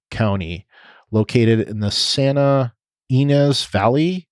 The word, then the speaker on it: Ynez: located in the Santa Ynez Valley. I think that's how you say it, Ynez, or in my Canadian heritage, Z.